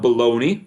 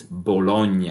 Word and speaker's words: Bologna: bologna italy all right we're working on pronunciation here so it's not baloney all right not even when you're talking about meat it's bologna all right it's also